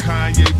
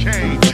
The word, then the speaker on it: Kanye: Now all I need is y'all to pronounce my name as Kanye, but some of my black, they still say Kane.